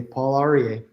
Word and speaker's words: Paul Aryeh: I'm here with Paul Aryeh, and I'm sorry, I'm sure I'm mispronouncing your name. Do you want to go ahead and share it with us? You said it perfectly, Paul Aryeh.